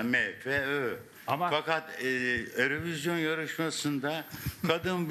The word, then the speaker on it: MFÖ: Siz MF dediniz de Türkiye'de İngilizce yani İngilizce okunuşu MF'dir. Aslında MFÖ.